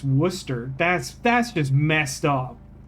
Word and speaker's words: Worcester: Fire sauce is just pronounced Worer. That's what I said it the same way both times. Nick, it's like the the town in Massachusetts. Worcester.